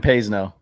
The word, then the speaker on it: Payseno: Pays no. It's like pays no Payseno. attention. That's how you remember it. Pays no attention.